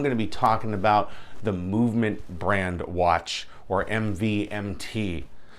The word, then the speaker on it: MVMT: is MV MT and they want you to pronounce it movement yes they want you to pronounce the watch